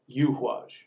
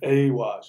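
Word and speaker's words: Eihwaz: And so people pronounce it Awaj. It's not Awaj. We just no longer have the letter, which is what the Yuhwaj rune is. We no longer have the letter for the U sound. So I believe that it's Yuhwaj. And I pronounce it Yuhwaj because it's the yew tree.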